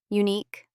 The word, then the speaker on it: unique: But in some words from France, u is C, unique, antique, R, double, R, and final R and E are all R.